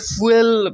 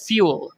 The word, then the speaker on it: fuel: বাংলাদেশের লোকজন আমরা এটাকে ফুয়েল বলে থাকি। ঠিক আছে, এটার উচ্চারণ ফুয়েল না, এটার উচ্চারণ হচ্ছে ফিউল। আমরা যে FEW ফিউ বলি না, সো ফিউয়ের মতো তারপরে যদি OL থাকে তাহলে যেরকম উচ্চারণটা হবে